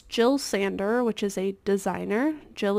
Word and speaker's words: Jill Sander: It's Jill Sander, which is a designer. Jill is spelled J-I-L.